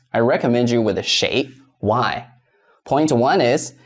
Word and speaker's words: 谁: Point two is, shui sounds like shui, water. If you pronounce it with a wrong tone, people may not understand you.